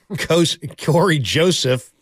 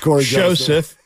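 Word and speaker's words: Cory Joseph: And Corey Joseph, standard pronunciation. Yes, it's not Corey Joseph. It's just Corey Joseph.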